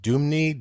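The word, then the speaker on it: Dmuney: tennessee to the comedian his name is pronounced doomney d-m-u-n-e-y he was shot and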